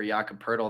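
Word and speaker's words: Jakob Poeltl: that that actually just as Mike nailed the pronunciation uh for yaka purle there that's how did Charles Barkley anoun the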